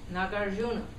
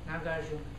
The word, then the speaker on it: Nagarjuna: a gente pronuncia como Nagyaharajuna, né? Quando recitamos a linhagem, né? É, grande mestre Nagarjuna.